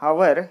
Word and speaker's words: hour: Next one, we will leave after dash an hour. We will leave after dash hour. So in the previous exercise I have told you that in the hour H is silent, so the next letter is O.